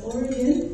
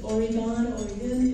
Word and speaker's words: Oregon: Yeah, you notice I pronounce Oregon, for any of you wondering. That's Oregon, it's Oregon.